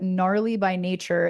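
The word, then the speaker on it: gnarlybynature: You could just Google me, Leah Elson, but on Instagram I am gnarly by nature, and nature has a silent G on the front of it because I thought I was clever.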